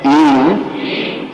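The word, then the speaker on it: ईं: बोले ओम ईम, ई के ऊपर बिंदी है जाने का, ई म कहलाती है, ईम इली इली इली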